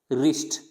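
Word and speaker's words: wrist: अगर आर से पहले डब्लू है तो भी डब्लू क्या रहेगा, साइलेंट रहेगा। किससे पहले, आर से पहले, तो डब्लू क्या हो जाता है, साइलेंट हो जाता है। इसको रॉन्ग नहीं पढ़ेंगे, रॉन्ग, राइट, रिस्ट, अब देखो डब्लू क्या है, प्रोनाउंस नहीं किया जा रहा, तो यहाँ पे इसको पढ़ेंगे रिस्ट, राइट और रॉन्ग।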